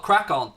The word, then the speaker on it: Craicon: So originally the channel was called Crack On, so it was spelled like CRAICON. It was half my name, half Connor's name.